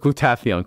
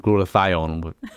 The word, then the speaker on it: glutathione: on who you ask we're going to stick with glutathion cuz it sounds better and my mouth my mouth seems to pronounce that a little better than glutathione whatever that is it